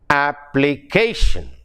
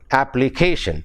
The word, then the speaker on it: application: See, the stress is on the penultimate syllable. Application. You got it? Application.